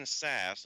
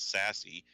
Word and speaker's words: Sasse: topic that senator Ben Sasse of Nebraska I just recently confirmed how you pronounce his last name I always thought it was sassy it turns out no it's sass the e is silent although sassy and I